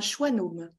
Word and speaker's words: schwannome: nom scientifique, c'est un schwannome. Ah, alors, ça s'écrit pas choix plus loin nome, hein, mais c'est quand même ce qu'on entend. Moi qui ai toujours du